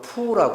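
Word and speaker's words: 福: 중국에서 복이 중국 발음으로 푸라고 한대요. 푸. 근데 그 복자 푸하고 부유할 때 부자하고 같은 발음이에요.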